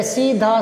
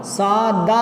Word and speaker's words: सादा: ठीक है, आगे देखो, वह सीधा साधा आदमी है, तो ध्यान दो, सीधा तो होता है पर साधा नहीं होता, सादा होता है, सादा।